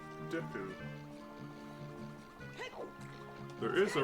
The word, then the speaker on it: Deku: Or do you pronounce it like Deku? There is a right answer. Deku. You choose to say it wrong too. It's supposed to be pronounced Deku because of the Japanese lettering, but I say Deku myself.